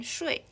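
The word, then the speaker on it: 睡: tone it means water if it is pronounced as the fourth tone shui it means sleep there are 23 consonants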